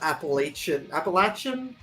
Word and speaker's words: Appalachia: Yeah, I thought it was like Appalachian, but I've heard that people from that region pronounce it Appalachia, or Oh, okay. it's not the sh sound. It's more of a ch.